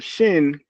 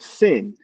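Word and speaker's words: שין: pronounce the word shibboleth, the first letter shin can be pronounced two ways. You have shin and you have sin.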